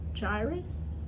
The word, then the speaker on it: Jairus: I'm saying I can how to say it Jairus Jairus yes uh the his storyline and I